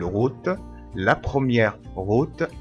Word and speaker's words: route: الأو تنطق أو ما نقولش روت، لا غلط نقول روت.